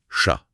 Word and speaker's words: chat: Il parle beaucoup des lettres finales muettes. Ah oui, ça c'est majeur en français. Ça change tout pour la fluidité. Le guide donne des exemples. Oui, il cite parler qui se dit parler, chat qui devient chat.